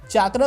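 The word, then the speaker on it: chakra: Because तुमने अगर notice किया होगा तो सारिंगान को ये लोग सारिंगन बोल रहे हैं एंड चाकरा जो है उसको चक्र बोल रहे हैं, बट मेरे हिसाब से एटलीस्ट सारिंगान को मतलब सारिंगन नहीं बोलना चाहिए।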